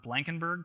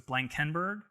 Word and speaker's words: Blankenburg: sound out a word alexa never used to pronounce the word blankenburg properly uh she always put the emphasis in the wrong place so it was blank kenberg which just sounded odd so i could anytime